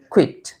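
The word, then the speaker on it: quiet: coed কেউ বলছেন কুইট আসলে উচ্চারণ হবে কুইট কুইট কোয়েট না কুইট কিউ ইউ আই টি E coed যার অর্থ হচ্ছে সম্পূর্ণ আর কিউ ইউ আই ই টি কুইট যার অর্থ হচ্ছে শান্ত নীরব তো বলতে পারেন কিপ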